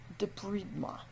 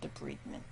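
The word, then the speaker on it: débridement: Debridement. Around here, I also heard this called debridement, but the French word for it is debridement, and I think that is the correct pronunciation.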